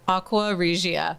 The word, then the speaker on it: Aqua Regia: Can you pronounce it better than that? Aqua Regia.